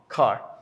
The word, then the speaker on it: kar: This is the pronunciation of kar. Also is here. Ka is a long a, kar.